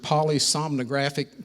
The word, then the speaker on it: polysomnographic: He's a certified hypnotherapist, registered polysomnographic technician. Did I pronounce that right?